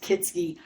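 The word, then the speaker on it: Kietzke: k i e t z ke and it's pronounced kitsy and that is wrong all the car lots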